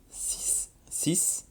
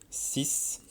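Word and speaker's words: six: Alors là, le X se prononce un peu comme un S. 6, pardon. 6.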